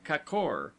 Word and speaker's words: kakor: word, as kor, gorges, pronounced as though written kakor, the a having the sound of a in sofa, lions, dodon.